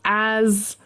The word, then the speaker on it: as: And then you should also pay attention to if it's a snake or z a b. So as as us.